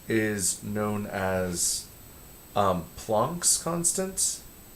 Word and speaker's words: Planck: h is known as plonk's constants plunk is spelled like planck because he was german planck's constant uh is